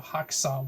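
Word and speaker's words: Häxan: Swedish Danish co-production film, the film called Hexan or Haxan, which most other people tend to pronounce it, which pretty much like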